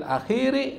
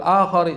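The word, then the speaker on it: الآخر: Jaiz Boleh kapan finisfil di sini salah nih harusnya finisfil akhiri Min Ramadan bukan finisfil akhori salah harusnya dibaca finisfil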